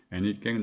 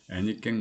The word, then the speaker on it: 애니깽: 다름없는 경매 방식에 의하여 애니깽 농장 30여 곳으로 흩어져 혹독한 노동에 시달리게 됩니다. 애니깽은 에네켄의 한국식 발음입니다.